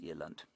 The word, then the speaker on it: eland: And that's, I think it's just a subspecies of this eland. Aren't they lovely? Eland, I suppose, is what I should be saying. Eland is the Afrikaans pronunciation.